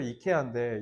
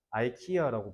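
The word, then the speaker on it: IKEA: 새끼들은 너네 이케아에서 가봤죠 이케아가 원래 스웨덴 발음을 실제로 이케아인데 이거 미국 애들은 뭐라 불러 아이키야라고 말하거든요 아까도 봐봐 비타민이잖아이 새끼들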